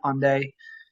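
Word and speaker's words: Hendaye: on a beach in onday which is spelled h-e-n-d-a-y-e it's on day and then you walk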